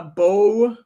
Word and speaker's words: Beau: the other one a bow uh okay the other one is Bo is you know how Bo is spelled b-e yeah I know b-e-a-u you're right Beau is afraid with